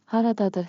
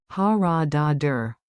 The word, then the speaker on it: haradadır: Haradadır harita. Pronunciation beat. Clap with me. Rhythm makes memory sticky. Ha ra da dur. Ta ta ta ta. Haradadır.